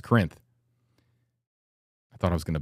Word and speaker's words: Corinth: Porter's Corners near a town that I can't pronounce. Corinth? Yeah, it's Corinth.